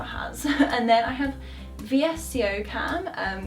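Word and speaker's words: VSCO: and then I have vssco cam um which some people pronounce visco cam um it's a bit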